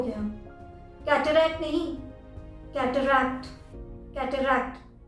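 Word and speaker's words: cataract: English में इसकी spelling होती है ये पर लोग जल्दी जल्दी में कैटरैक्ट बोल देते हैं। कैटरैक्ट हो गया, कैटरैक्ट नहीं, कैटरैक्ट, कैटरैक्ट। सेकेंड बार भी क का साउंड आता है, कैटरैक्ट।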